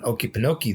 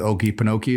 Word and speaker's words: Okefenokee: Out in Okefenokee, there's, I believe, an intelligent haunting out there.